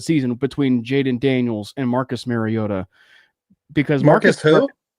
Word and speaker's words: Mariota: If you watch the intro, he actually pronounces it Marcus Mariota.